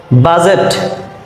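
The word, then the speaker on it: budget: handsome handsome means সুদর্শন বাজেট বি ইউ ডি জি টি বাজেট এখানে ডি থাকা সত্ত্বেও এর উচ্চারণ হবে না বাজেট দ্যাট মিন্স বাজেট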